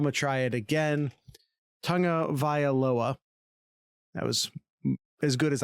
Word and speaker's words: Tagovailoa: I got Tagovailoa. I totally just stepped all over that. I'm going to try it again. Tagovailoa.